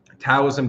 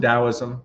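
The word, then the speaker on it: Taoism: religions or spiritual systems tosm dosm whichever way you want to pronounce it Alchemy hermeticism Zen Buddhism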